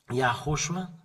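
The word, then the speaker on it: יההוֹשֻׁע: YAHHOSHUA.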